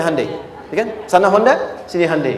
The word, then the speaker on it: Hyundai: sana bikin Honda sini hundai Hyundai kan dibacanya Hai Ya kan sana Honda sini